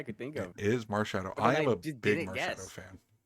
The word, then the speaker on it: Marshadow: How do you even pronounce that? Incorrect. Annette? I think it's Bennett. Yeah. Louis. Oh, okay. Marshadow? It is Marshadow.